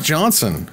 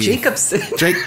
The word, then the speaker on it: Jacobson: That said, Mark Jonsson was the... Jacobson. Mark Jacobson.